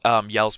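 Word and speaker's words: Jelle: It's not called Yell's Marble Run, which is pronounced like Gels Marble Run because it's like I think it's a Swedish Dutch, I believe.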